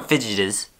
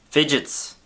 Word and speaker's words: fidgets: Well, everyone fidgetes. Fidgetes. How do you say that word? Fidgetises. Fidgets. It's fidgets. It's the same word.